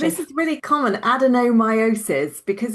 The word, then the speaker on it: adenomyosis: So we're going to explore Sally, you're going to have to help me with the Yeah, pronunciation. this is really common, adenomyosis, because it's not a word we say very often.